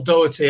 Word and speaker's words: Doherty: finally got our guest on this evening Dougherty how you doing I'm very good and thanks for pronouncing my surname perfectly the country you know